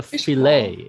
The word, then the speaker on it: filet: we call it a filet yeah yeah oh yeah yes i think it's a french word maybe it's from france yeah because french often don't pronounce the ending t sound so yeah we can